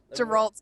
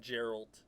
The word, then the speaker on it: Geralt: upset with with you geralt geralt sorry I said his name wrong I've been saying his name right the whole time and not not a hard not Gerald not Jerry the witch is this